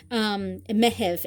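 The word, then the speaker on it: Meitheamh: Mehev is how you say June in Irish. I know it kind of sounds like May, but it's Mehev, and that is for June.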